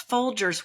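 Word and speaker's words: Folgers: And that's folders with a hard G as Nana insisted on pronouncing it, but they um I can still taste them as I'm describing this to you.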